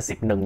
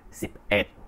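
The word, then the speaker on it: สิบเอ็ด: Trong tiếng Thái cái quy định đó là khi mà 11 á, 11 á là sẽ là xịp ẹt. Mình đọc là xịp ẹt. Xịp ẹt nha mọi người, ẹt. Giống như là con ẹt, ẹt, ẹt, mình là ẹt.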